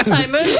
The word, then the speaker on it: Simons: Simons à prendre des se prononce vraiment Simons parce que Monsieur Simons, c'est vraiment son nom de famille.